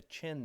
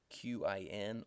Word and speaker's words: Qin: period of the warring States ended when the Qin Dynasty came along that's spelled Qi N or sometimes CH ' iin and the Qin